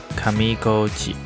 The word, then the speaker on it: 上高地: 上高地的日文读音为 Kamigoji，是源自于最上游的